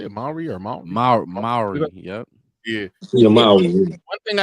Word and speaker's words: Mowry: Mowry, yep, Yeah.